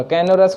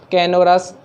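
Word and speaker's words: canorous: कैनोरस को कैसे याद रखेंगे? इसको थोड़ा टुकड़े में तोड़ लेते हैं, कैनोरस। तो इसको थोड़ा कर लेना, कैनो को लिख दो कान में रस।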